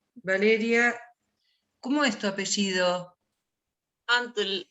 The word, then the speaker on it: Antl: Antl, ANTL.